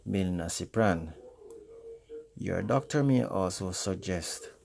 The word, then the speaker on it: milnacipran: So those are pregabalin, that is pregabalin, duloxetin, that is duloxetine, and milnacipran, that is pronounced milnacipran.